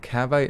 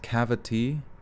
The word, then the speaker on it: Cavite: it sounded weird Oh calves eye is pronounced cavity dammit what about the other